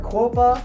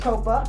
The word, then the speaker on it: Qoppa: cool and unique name a lot of people mispronounce it they call her Copa there is no you it's just Copa one of the other problems that she had